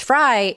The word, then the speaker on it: Fry: A lot of people put an E on the end of it, which I didn't really care because it doesn't change the pronunciation of it. It's Fry either way.